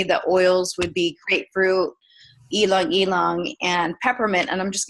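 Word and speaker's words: ylang-ylang: ingredients it's like cooking uh grapefruit peppermint and elong elong I know a lot of people pronounce it yangang y Lang but it's elong elong um so this is like cooking you know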